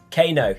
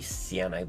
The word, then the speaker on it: Caino: how you have it pronounced, and then Caino. Yes. Okay, cool. I did get it right then. Caino. Caino. Caino. Oh, it can't be Ciano because it's AI, not IA. Oh. Special. So Caino.